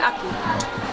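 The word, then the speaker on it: ackee: Now, we say like right pronunciation for example, Aki, A-C-K-E-E, but Jamaica we say Aki.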